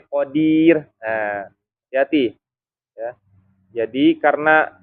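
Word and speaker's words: قادر: Ir ya Kir tuh atau khodir bukan Qadir ya Jadi bukan Qadir tapi Qodir Nah hati-hati ya Jadi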